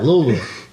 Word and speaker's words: Louisville: God, you even say it right, Louisville.